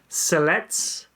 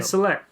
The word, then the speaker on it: Cellettes: Cellettes. Cellettes. Is it Sillex? No, Cellettes. Cellettes. Anyway. I don't think you pronounce the terminal S. Oh, you don't? Okay, Celette. Okay.